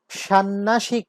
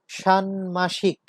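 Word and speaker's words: ষাণ্মাসিক: ষান্মাসিক, ষান্নাসিক না, ষান্মাসিক।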